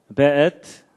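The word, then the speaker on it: וְאֵת: 그 다음에 앳, 하샤마임, 베엣. 요게 이제 W인데도 이게 독일식 발음을 해서 베 이렇게 읽는다고 합니다.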